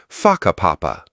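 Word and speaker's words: whakapapa: You'll hear locals casually talking about places like Waka Papa, pronounced Faka Papa.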